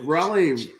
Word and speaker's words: Raleigh: sweet and you know raleigh rhymes with mahali and holly which is kind of